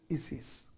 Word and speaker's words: Isis: I s I s in other parts of the english-speaking world they pronounce it is his it's his of Egypt